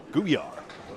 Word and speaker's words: Gouillart: Duncan McDougall on the call, joined by Kevin Burns and Greg Gouillart on the sticks. Matt Nichols, hay bale. Like Beauvert's T, my T is silent as well. Gouillart.